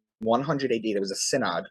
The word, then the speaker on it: Synod: Um, so I guess staying within that topic, you had mentioned the Senate of Jamnia. Is that am I pronouncing that right? Synod.